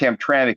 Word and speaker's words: Hamtramck: and and it is pronounced hamtramic even though it's missing the vowel and the mck or